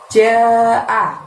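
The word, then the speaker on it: جَاءَ: Nah, kemudian berikutnya ada lafaz jaa. Ja di sana baca panjang 5 ya. Jaa. A-nya buka mulutnya lebar dan pendek aja cara membacanya.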